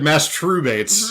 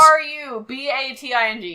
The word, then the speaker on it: masturbate: So this is twice now you've said masturbates. Mm-hmm. Is that the way that it's spelled both times? Mastrubating, yes.